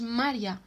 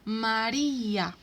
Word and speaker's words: María: No decimos María, sino María.